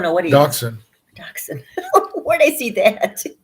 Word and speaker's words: dachshund: Dachshund. Where'd I see that? Well, it says dachshund, but it's pronounced dachshund.